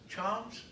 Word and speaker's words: Chams: this time, we have cornerback Chams. Questions for Chams? Greg? Was he close on the pronunciation?